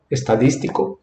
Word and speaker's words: estadístico: Então, qual é a sílaba tônica? Estadístico. Então, quer dizer que essa aqui, ela é uma palavra esdrújula.